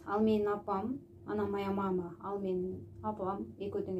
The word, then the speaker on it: мама: Биринчи ага ударение келтиресиз, орус тилинде айтып атканда. Биз кыргызча мама деп экинчи ага коюп коебуз да. Бул жерде мама деп айтыш керек.